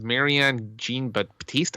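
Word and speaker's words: Marianne Jean-Baptiste: The actress is Marianne Jean Baptiste, I believe it's pronounced.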